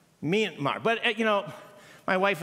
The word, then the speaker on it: Myanmar: number three Min m wait no it's actually pronounced me Myanmar it's an me sound Myanmar but you know my wife and I were